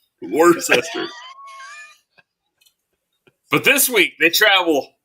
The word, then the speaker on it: Worcester: Worcester. It sounds like something like incester. Worcester.